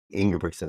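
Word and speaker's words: Ingebrigtsen: two you know yob brickson how do you pronounce his last name in Brion in brickson that's it you know messing around at the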